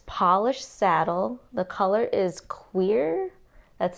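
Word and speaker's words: cuir: The color is queer. That's spelled C-U-I-R. I know it sounds like I'm saying queer, but I Googled it, and that is actually how you pronounce it.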